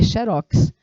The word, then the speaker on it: xerox: paroxítona e de realmente você não vê a palavra xerox acentuada Então se ela não é acentuada é porque a pronúncia dela é em oxítona é xerox e não xerox professor e Por